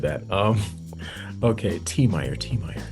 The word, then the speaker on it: Tiemeyer: My name is pronounced T- Meyer, by the way. Oh, I was going to say Tyer, so I am so glad you said that. Um okay, T- Meer.